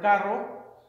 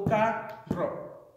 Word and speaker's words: carro: you have one syllable carro. So then you hear that the emphasis is more so on the second to last syllable instead of the first one, qualifying it as a palabra llana.